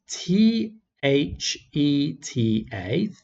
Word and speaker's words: theta: that before theta is a greek letter it's pronounced t h e t a theta and that defines the angle and so